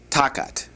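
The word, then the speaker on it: תחת: And then the word under or instead of is takat. Takat. Understand and and see that the accent is above the first to. And so you have takat. All right.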